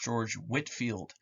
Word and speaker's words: George Whitefield: all right okay uh george whitefield you'll also hear pronounced george whitefield i've heard scholars pronounce in both ways i don't care which way we pronounce it i'm probably just going to say whitefield um just because whitfield no no it doesn't flow off the tongue right he's the most